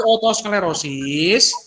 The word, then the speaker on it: otosklerosis: tanaman 7 oto sklerosing jadi bacanya oto Hai sklerose apa itu otosklerosis depan atau dibaca barang-barang